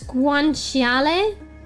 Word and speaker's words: guanciale: It's guanciale, Guanciale.